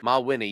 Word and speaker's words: Mawhinney: There's no C in there. I'm like, where did you get Mick? So anyways, I always say Ma than Winnie, like Winnie the Pooh or winning. Mawhinney.